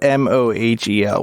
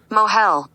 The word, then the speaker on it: mohel: Mila however that's pronounced it's spelled m-o-h-e-l which may be pronounce Moyle but it looks different than the Moyle that's making Shadows how do you have the spelling of that m-o-i-l have Google tell you how to pronounce that word okay in Yiddish mohel mohel so no okay getting